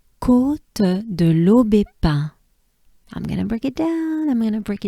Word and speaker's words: Côte de l'Aubépin: So we have l'eau, B. So this is important because here we have the sound E. E is a sound that goes up your mouth, and it's not E, right? It's not a banana smile. You can think of E as in café, right?